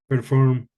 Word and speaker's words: perform: 2-syllable verbs and prepositions usually have the stress where? They stress the last syllable. For example, Perform, record, so again, record.